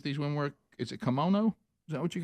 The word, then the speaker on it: kimono: you call that I don't know how to pronounce that I thought that was a dragon I did too K you wear one k i m o n o I have several yeah kimono kimono yes yeah okay uh so Adler good